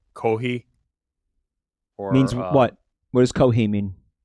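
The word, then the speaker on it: コーヒー: So you just say coffee without the F and it's coffee? Kohi. Kohi. All right. So Pronouncing it like a New Yorker, but yes. So here's another good question. They don't have fees, they have to do HI as a substitute.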